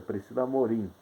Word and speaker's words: Priscila Amorim: É o que é como se pronuncia? Priscila Amorim, né?